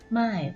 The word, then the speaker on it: 卖: ตัว นี้ นะ คะ ออก เสียง นะ คะ ว่า ม่าย มั่ว ๆ ไม่ เป็น